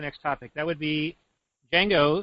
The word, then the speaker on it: Django: topic that would be Dango the D is silent unchanged yeah so I